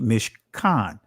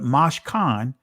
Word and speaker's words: mishkan: In the Israeli pronunciation, you see mishkan, right? But mashkan, which comes from the primitive root word shakan.